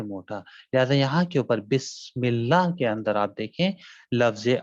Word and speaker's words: بسم اللہ: دوسری چیز کہ آپ کے یہاں کے اوپر حرف سین کا جو تلفظ ہے اس طریقے سے ادا کیا جائے گا کہ جس طریقے سے سیٹی کی آواز آتی.